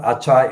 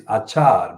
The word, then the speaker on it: আচার: It's not Achai, it is Achar because it rhymes with the following line, which is Mul Shorbonasher Ere Bhangibo Ebar. So Ebar is preceded by Achar in the previous line.